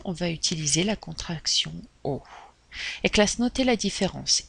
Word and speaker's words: au: va utiliser la contraction aux éclats ce noté la différence il va au commissariat il va au cours de tennis prononciation identique et on prononce comme la lettre o d'accord par conséquent attention